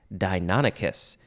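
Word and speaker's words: Deinonychus: do that the next word is deinonicus this is spelled fun d-e-i-n-o-n-y-c-h-u-s dinonicus it sounds like uh sounds like a dinosaur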